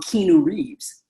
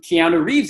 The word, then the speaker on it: Keanu Reeves: know who he is at the time we didn't know how to pronounce his name but it was basically we used to call him Kino Reeves right if you think